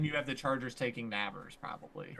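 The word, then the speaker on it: Nabers: then you have the Chargers taking Navers, probably. Right. And then you have probably a trade out. Neighbors. Navers. I'm not good at pronouncing Neighbors.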